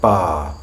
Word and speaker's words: bar: cart where we have a vowel then an R then some sort of consonant we don't pronounce that R either bar cart there are exceptions to